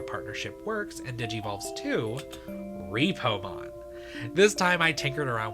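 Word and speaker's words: Reapomon: like the previous one, it is spelled R-E-A-P-O-M-O-N, like Reaper and Repo.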